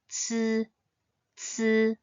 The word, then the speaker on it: ci: Pinyin is pronounced as c, c. It's similar instead to the TS sound at the end of the word cats, c, c.